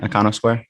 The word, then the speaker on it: Iconosquare: but what do you specifically work on at icono Square am I pronouncing that right icono Square yeah icono Square I'm um in charge of